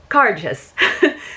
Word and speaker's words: Cairdeas: about the pronunciation and the best description that i saw was it's kind of a cross between saying gorgeous and car chase so it's car just so that does mean